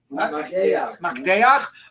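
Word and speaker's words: מקדח: How do you pronounce it? Makdeach, okay, which is an awl, right?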